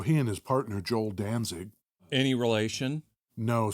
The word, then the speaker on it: Danzig: and his partner Joel Danzig any relation no spelled differently spelled with a t Danzig there's no way that's his